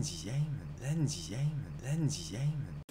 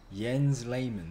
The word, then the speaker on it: Jens Lehmann: I really just then je mange mange that's totally wrong yen's layman there we go was it really that